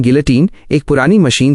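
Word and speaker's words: guillotine: गिलोटिन, pronunciation गिलोटिन, एक पुरानी machine थी जो सिर काटने के काम आती थी।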